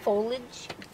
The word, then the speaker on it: foliage: Foliage?